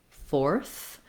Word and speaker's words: fourth: Notice that fourth, the number, and fourth as in go forth, have the same pronunciation. They both have the or sound, even though we have the letters O-U-R in the number fourth.